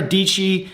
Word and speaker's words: Dietschy: And he actually came out, I think it was Sarah Dietschy, she had, rhymes with peachy, yes.